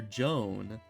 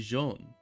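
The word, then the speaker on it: Jeanne: it's especially confusing because they keep calling her Joan which is like the English pronunciation right because it's supposed to be jeon you know kind of like how JN is Jean so that would be jeon I don't know it's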